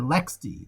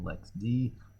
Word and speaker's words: LXD: under lxd okay or or lex d they want that pronunciation and they say that on the site here's the correct pronunciation lex d lexie okay so then we also